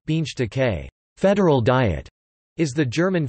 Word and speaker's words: Bundestag: the Bundestag German pronunciation beans decay federal diet is the German federal parliament it